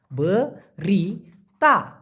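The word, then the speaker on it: berita: শুনতে সেটা হলো বরিতা বরি তা উচ্চারণটা হবে বরি তা বরিতা মানে কিন্তু খবর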